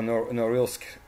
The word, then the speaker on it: Norilsk: Now we need to speak about the city of Norilsk, or Norilsk, I would say, pronounced in English.